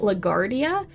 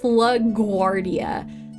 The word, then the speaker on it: LaGuardia: hurts my brain I want to say it lag Guardia because like I keep thinking that's how it should be pronounced but it's LaGuardia so anyway that that hurt my brain a